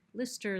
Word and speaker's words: Lister: for a notification Oh Lister what does that sound like Lister like Listerine Lister came a little